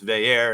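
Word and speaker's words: Veilleux: that we got is it's not christian veyu it's vair and that's like the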